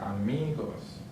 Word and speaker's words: amigos: Next one ends with an S, so the stress syllable is on the second to last. So right here, amigos.